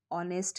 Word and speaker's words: honest: अगर pronunciation कर दे, जैसे honest है तो H silent है, अब इसको कोई honest पढ़ दे, so that is also a pronunciation error.